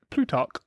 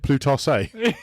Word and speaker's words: Plutarch: And that was said by Plutarch.